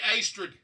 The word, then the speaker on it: Astrid: It's Astrid. But, Astrid, when you're talking to Astrid, you would say Astrid. Astrid, like pastry.